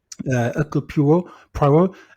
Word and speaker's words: Hercule Poirot: No, sorry, I can't say it right. Hercule Poirot. Oui. It's like a silent H in it. Hercule Poirot.